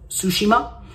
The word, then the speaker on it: Tsushima: Ghost of Tsushima, T is silent. So Ghost of Tsushima and Paper Mario and the Origami King release date, which is today, July 17th.